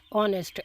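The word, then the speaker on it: honest: अब अगला लफज़ है ऑनेस्ट। अब इसमें थिन से थोड़ी सी गलती हो गई। इसमें एच साइलेंट है।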